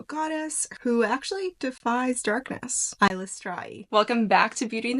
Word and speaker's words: Eilistraee: I believe she pronounces, and the author Ed Greenwood also confirmed that it's pronounced Eilistraee.